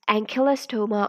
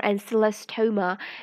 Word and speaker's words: Ancylostoma: the next nematode is the ankylastoma or anselostoma it has different pronunciations at different places you can choose the one you like it is 80 who